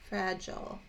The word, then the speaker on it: fragile: my first one is my first chunk is like this frat like that short vowel fra jaw oh fragile j oh sounds like that sounds like fragile and fragile is the